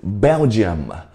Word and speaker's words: Belgium: 来，我们一起读一次：Belgium, Belgium 嘛。